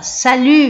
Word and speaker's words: Salut: E ele fala, Salut Marc. Você fala, então aqui eu não pronuncio o T, ele falou Salut Marc, né?